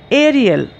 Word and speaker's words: aerial: Aerial. It is a three-syllable word, aerial, meaning high in the air.